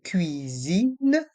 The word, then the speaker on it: cuisine: Balance de cuisine. Et dans le mot cuisine, les voyelles U et I font le son UI.